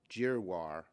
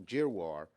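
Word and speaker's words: Giroir: admiral i got to say his name right jiroir today admiral jeroir said that we need a million tests a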